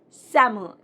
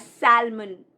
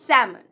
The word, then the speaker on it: salmon: The correct pronunciation is salmon. Generally, people pronounce it as salmon, but no, L is silent. It's salmon.